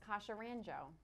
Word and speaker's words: Kassia Randzio: the five year term whose name i cannot pronounce my name is kasha ranjo let me try it kasha rancho that's right boy that's that's a mouthful and